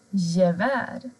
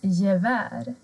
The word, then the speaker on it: gevär: Till exempel gevär. Här har vi ett gevär. G och E blir J.